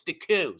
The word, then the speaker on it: Deku: I was told it's not Deco, it's Deku. So today I want to be pronouncing it the correct way, supposedly, all right?